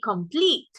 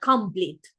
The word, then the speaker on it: complete: the first syllable and complete has a stress on the second syllable, right? For example, we say angel, we don't say angel, right? And we say complete, not complete, right?